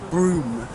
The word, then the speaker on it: Brougham: It's like a castle, but it's spelt Brougham, but it's actually Broom. And I always get picked up and getting the spelling, the pronunciations right, so it's Broom Hall.